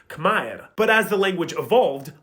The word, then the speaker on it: Khmer: So Khmer would have actually been pronounced Khmer. But as the language evolved, most dialects went through a sound change, where the letter R was lost at the ends of syllables.